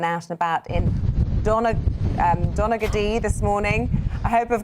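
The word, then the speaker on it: Donaghadee: very windy Where You Are yes and your pronunciation wasn't bad it is Dominica D this is where it moves to the Ulster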